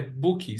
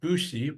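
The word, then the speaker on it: Büchi: times so this is called a Booky set actually it's it should be pronounced something like bushie but I mean that's too hard to pronounce so bookie and this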